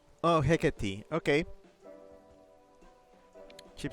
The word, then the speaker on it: Hecate: Chip says better way to explain it is rhymes with Chekati. Oh, Hecate.